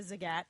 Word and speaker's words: Zagat: Zagat probably right so he called it it's the Zagat and so that's how I should have been saying it wrong all this time yeah I've been saying the wrong evidently for many years yeah yeah all right